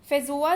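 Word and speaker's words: feijoa: का होता है और इसे कहते हैं फेजुआ यानी कि फेंजोआ, इसका प्रोनाउंसिएशन है।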